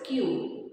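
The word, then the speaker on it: queue: one this is the five letter word of which if you remove four of the letters it is still pronounced the same do you know the word now this word is q if you remove this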